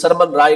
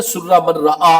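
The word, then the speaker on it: سر من رأى: من رعا کی غار، جس کو ہم اردو خان ہمارے عزیز سرمن رائے کہتے ہیں، لفظ یہ غلط ہے، سرمن رائے لفظ نہیں ہے، سرہ من رعا اصل تلفظ ہے، تو اس غار کے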